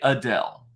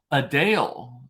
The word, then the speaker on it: Adele: the real thing is most of us say Adele Adele oh I was listening to Adele I want to it's not that it's a Dale a Dale she's like it's a it's like a d-a-l-e sound not d-e-l-l a Dale a Dale